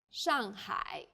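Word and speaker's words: 上海: city Shanghai is Shanghai the first syllable here is made of an initial and a final and a fourth falling tone the second syllable is made of an initial ha and a final I and a third falling then Rising tone hi Shanghai well done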